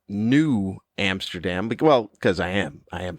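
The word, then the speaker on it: Nieuw Amsterdam: It's new, as in N-I-E-U-W. Like it would be pronounced New Amsterdam.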